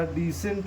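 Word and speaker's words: descent: गया, कंसाइंस हो गया, अगर कभी भी एस के बाद सी आता है तो हम लोग सी को नहीं पढ़ते हैं, सी हमारा क्या हो जाता है, साइलेंट हो जाता है।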